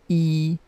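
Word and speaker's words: 一: you number one first number one if you notice it is in the first tone so it is read as e number one okay number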